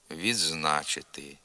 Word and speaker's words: відзначити: ґдзик Гандзя кукурудза родзинки на межі префікса і кореня правописне ДЗ вимовляється як два звуки звук ДЗ на місці звука д і і приголосний з наприклад відзив відзначити надзвичайно підзахисний підзвітний підземелля